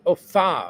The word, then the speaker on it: pho: Pho is pronounced fa.